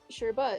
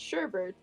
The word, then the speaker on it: sherbet: sure sure but what yeah sure is the sherbet is the usual word for the frozen sweet dessert made from fruit or fruit juices sherbert with an additional r in the second syllable and pronounced sherbert is less commonly used and in written sherbert